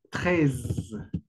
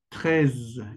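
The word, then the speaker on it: treize: Y la forma en que ustedes deben de pronunciar es trez. Trez. Como que arrastras un poquito la z.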